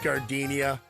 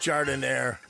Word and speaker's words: Gardenia: you're at the counter don't call it gardenia it's pronounced jarred in there experience really does matter